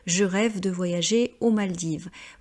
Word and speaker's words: Maldives: rêve de voyager aux Maldives. Vous voyez, on ne prononce toujours pas le S qui est la marque du pluriel et le S n'est pas prononcé en français.